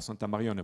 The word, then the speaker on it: Santa Marione: Alors Santa Marione, pourquoi ce vocable un petit peu particulier, c'est parce que c'est la contraction ou la prononciation locale de Santa Maria Maggiore.